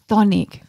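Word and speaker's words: chthonic: you one more okay sonic no s and no t do you know this word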